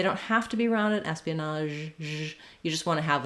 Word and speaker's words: espionage: out for is that in the Pia Espionage there can be a little gliding uh sound as we move from the e to the uh we just naturally Glide between those two you won't see them